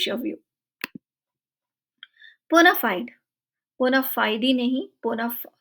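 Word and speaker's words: bona fide: टे व्यू पुना फाइड बोनाफाइड नहीं बोना बोन फाइड फाइड है य बोनाफाइड नहीं बोन फाइड लेटन फ्रेज है बहुत कॉमन कॉमनली यूज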